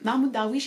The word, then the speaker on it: Mahmoud Darwich: cet auteur s'appelle mahmoud darwich s'ils essaient de prononcer correctement mahmoud darwish et au programme de l'agrégation cette année ce